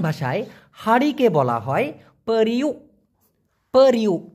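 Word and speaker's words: periuk: পেরিউ, এটাই হচ্ছে সঠিক উচ্চারণ। পেরিউ, পেরিউ মানে হচ্ছে হাঁড়ি।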